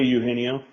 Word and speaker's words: Eugenio: Yeah, I You got mean, Mean Gene, but it's A. Eugenio. Eugenio.